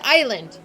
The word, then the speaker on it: island: it sounds like so I just read it like like the word Island if you've just seen it written down and you didn't hear it you would read it is land and that's how I would read it I will say monk